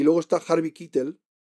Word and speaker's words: Keitel: Tenemos, por ejemplo, Keith Carradine y luego está Harvey Keitel, o Keitel, parece ser que se pronuncia Keitel porque es un nombre alemán.